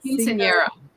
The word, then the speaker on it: Quinceañera: Quinceañera.